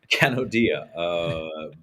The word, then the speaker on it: Kanodia: Can you pronounce that correctly for me? Kanodia.